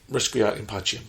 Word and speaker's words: Requiescat in pace: I can't pronounce it. Requiescat in Pacem? Requiescat in Pacem.